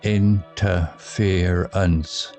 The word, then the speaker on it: interference: Interference sounds like interference, stress on fear.